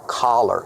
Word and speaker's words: collar: C- color. Example. What color is my sweater? My sweater is black. That's color. But this is a collar. It's a more open sound.